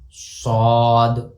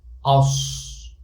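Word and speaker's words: ص: And this is Sad, As, As. Here also I did the same.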